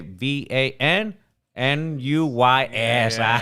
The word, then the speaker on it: Van Nuys: It's in Vanise, California. Don't forget, Van Nuys.